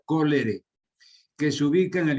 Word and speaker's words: cholerae: Cholerae se escribe y se pronuncia cólere, que se ubica en el intestino del paciente.